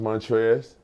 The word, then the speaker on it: Montrezl: did it uh so my name is pronounced montrese okay but it's elder the elder silent i never really uh